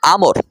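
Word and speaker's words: عمرو: একটা কথা মনে রাখবেন, যদি কোথাও আইন মিম র একসাথে লেখা থাকে এবং তারপরে যদি একটা ওয়াও থাকে, তাহলে তার উচ্চারণ হয় আমর।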